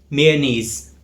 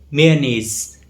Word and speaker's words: mayonnaise: In British English, the stress is on knees, the second part of the word, mayonnaise. But in American English, the stress falls on the first part of the word, mayonnaise. So the correct pronunciation is mayonnaise.